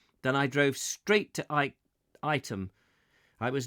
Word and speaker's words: Ightham: Wikipedia says you pronounce Ightham Mote correctly, as in Ightham, as opposed to Knightham.